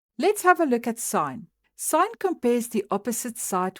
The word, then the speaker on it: sin: So sine is written as sin, but we do pronounce it sine.